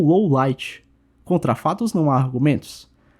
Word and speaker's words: Lawliet: a conclusão é que Lowliet deveria ser pronunciado da mesma forma, ou seja, como low light.